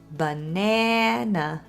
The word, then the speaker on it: banana: You know that word is spelled with three letter As, but it only sounds like one /buh-NA-nuh/. The stressed syllable is in the middle, and the other two As are this little /uh/, schwa.